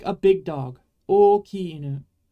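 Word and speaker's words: 大きい: Remember that you're pronouncing every vowel, but it's just a little different when it's the same vowel. You should say oki, but not o-oki, right? There's no little break in the middle between the two o's.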